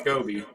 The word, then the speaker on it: Scooby: 2 O's, Scoby. It's 2 Well, O's, but pronounced Scoby.